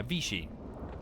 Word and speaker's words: Vichy: Pronunciation? Words? Yeah, Vichy.